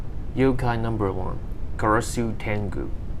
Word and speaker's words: Karasu-tengu: yokai number one karasu tengu pronunciation ka rasu tengo english name raven tangu gender